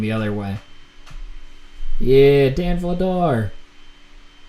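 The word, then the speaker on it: Vladař: Yeah, Dan Vladar. Or Vladosh, I think is how his name's pronounced in Czech.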